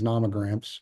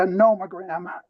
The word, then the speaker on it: nomogram: point out the company's nomograms, which are attachment CN2 to hearing exhibit 300, correct? Yes, except I pronounce it a nomogram. Those are NO, nomogram.